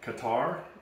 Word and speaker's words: Qatar: It's FIFA World Cup Qatar 2022.